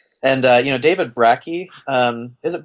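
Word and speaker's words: Brakke: had these ideas and uh you know David brachy um is it brachy is that how it's pronounced yeah brachy Rocky you know his book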